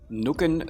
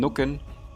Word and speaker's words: Nucken: The medieval term Nukken, which is probably pronounced Nücken, just like Schützen is Schützen, translates to the modern German terms Nicken, Stutzen, Einnicken, Scheuen, or Schlafen.